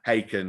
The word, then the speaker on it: Haken: genre of prog rock is it harken or haken oh it's because you can pronounce yeah haken like right bacon yeah they've come along